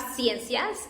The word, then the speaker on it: ciencias: Or it goes CE, then C is soft like say, like Celine, right? Say. C, it's soft again. We have ciencias. In English, it's different because it has an S, but it's the same pronunciation, science. It's not like a K, but a S.